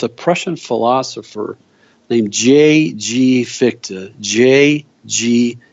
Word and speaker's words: Fichte: Fichte. J.G. Fichte. That's spelled Fichte.